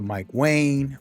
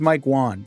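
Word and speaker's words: Mike Wang: First things first, we're going to listen up to Mike Wayne or Mike Juan. I've been saying his name wrong. I'm gonna learn. I'm gonna learn. His name is Mike Juan, just so you guys know.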